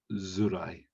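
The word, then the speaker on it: づらい: But when we can use it as a suffix, but instead of saying tsurai, we pronounce it as zurai.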